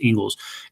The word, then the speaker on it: Inglis: I think the guy's name is Ingalls, Inglis. It's pronounced Ingalls.